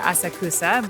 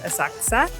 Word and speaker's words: Asakusa: of asaksa in English you would maybe say asakusa but in Japanese it's asak asakusa and I'm trying to learn my better Japanese pronunciation so I'll try and share hopefully the